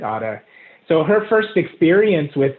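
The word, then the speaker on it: Ara: We pronounce it Ada.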